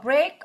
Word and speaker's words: break: Break apart. To say bird. A. This is E-A is pronounced A.